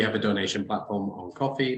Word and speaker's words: Ko-fi: That might be not quite the right term, but we have a donation platform on Coffee, that's spelled KO-FI, where you're able to donate to the company, either through subscriptions or one-time donations.